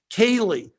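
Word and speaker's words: ceilidh: see how it's spelled there and how it's pronounced kaylee you know and and kaylie's are these little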